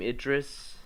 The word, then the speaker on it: Idris: Idris, right?